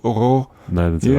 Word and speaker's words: Aurore: You might pronounce it Aurore if you speak English and you don't know. It's a girl's name, right? Yeah. So she says, it's so difficult. The placement of the vowels and the R's in this word come out more like the word horreur, which is horror.